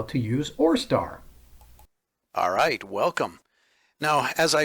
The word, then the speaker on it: ORESTAR: in your Google search or star so you see how that's spelled up there oh re STAAR just type in or star in Google and hit